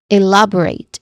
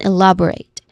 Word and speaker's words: elaborate: When it comes to pronunciation, elaborate has four syllables. It's we stress here on the second syllable. So the first syllable is I which has a short e vowel sound and then love the stress the the stressed syllable which has a short a vowel sound and then followed by uh schwa sound and then rate which has a clear a dip thong sound. So we pronounce this at elaborate again elaborate.